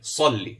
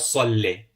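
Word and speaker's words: صلِّ: And remember, we said with the Kasra, it's a sharp downward movement. Downward pronunciation. Salli. It's not Salle. Salli.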